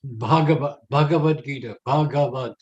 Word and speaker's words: Bhagavad Gita: like it it is it's bhagavad-gita it's but when you write it it's not our fault but when you write it in english that would look like bhagavatam and indians cringe when we when americans say it like that and so many other